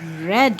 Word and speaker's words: read: now tell me here what is r e a d how will you read now r e a d the sound of the sound of e a ah so r e a d red very good now here